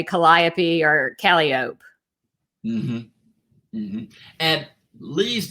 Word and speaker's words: Calliope: is pronounced her point calliope yep or callie oak if you've been to mississippi that's how they say it there there's a calliope mississippi